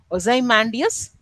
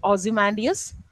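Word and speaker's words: Ozymandias: Some of his most famous works include Ozai Mandius or you can pronounce it Ozimandius a sonnet about the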